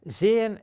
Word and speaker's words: sehen: Sehen means to see or to watch, depending on what you want to say. It's sehen. It's long, it's stretched because of the H, but it's not sehen.